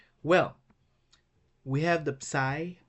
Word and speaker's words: psi: Well, we have the psi. Psi is pronounced like ps in the psalm, and our last letter omega, that is pronounced like O in woad, in go.